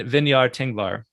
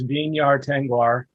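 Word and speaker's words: Vinyar Tengwar: So W is not pronounced V in Quenya. So it's Vinyar Tengvar and Tengvestie.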